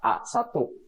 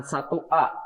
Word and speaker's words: A1: Jadi selnya adalah A1 ya. Bacanya bukan 1A, tapi dari kolom dulu ya. A1 bukan 1A ya. Jadi sekali lagi bacanya adalah kolom dulu baru diikuti oleh baris.